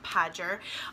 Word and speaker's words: Pader: as you can see my name is pader it's pronounced pader um and while we're